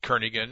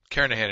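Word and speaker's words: Kernighan: will be using the kernigan and Richie or Kahan I should say the g is silent carahan and Richie C programming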